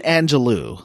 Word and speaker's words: Angelou: Now, it's written Angelou, like Maya Angelou. It is, but they pronounce it Angelo, right?